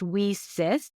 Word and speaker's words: WiCyS: spelled wi I Ys pronounced we sis like we sisters because that's exactly what